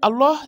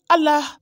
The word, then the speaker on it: Allah: Je te répète encore une fois, la bonne prononciation, c'est Allah et non Allah.